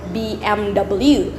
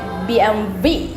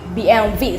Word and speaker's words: BMW: And then the last one here, some people here in Indonesia call it BMW, but also in America, because it's pronounced in American letters, so you call it BMW. But in Germany, you call it BMW. BMW. So the W in here, you pronounce it as V.